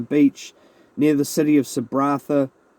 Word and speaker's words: Sabratha: Desalis were having a picnic on the beach near the city of Sabratha. I think it's Sabrata, but yeah, it's spelled with an H.